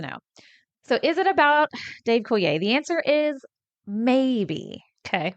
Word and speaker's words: Coulier: The constant mystery of is this song about Dave Coulier, who played Joey on Full House? Did I say his name right? Dave Coulier. Dave Coulier.